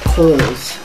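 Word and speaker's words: Cowles Mountain: I was also pronouncing it wrong too. It's pronounced Coles.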